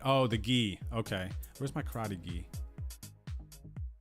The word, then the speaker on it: gi: you said this before say the last part of Miyagi and that's how you say it oh the ghee okay where's my karate